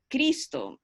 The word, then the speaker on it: Cristo: eso he notado mucho que Cristo tiene dos sílabas, ¿verdad? Con más énfasis en la primera sílaba, Cristo.